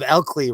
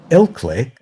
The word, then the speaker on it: Ilkley: Just like Stool always tells me that I'm pronouncing the Swan Man of Elkley wrong. What? What is it? There's a town. It's called Elkley. Elkley. Ilkley?